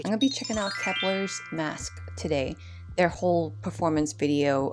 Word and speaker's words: MVSK: for this video because it's spelled mvsk except first i thought it was like musk but i'm glad that it's mask because every time i will